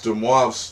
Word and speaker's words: de Moivre: had to look up on Google how to pronounce it right. But it's de Moivre's theorem.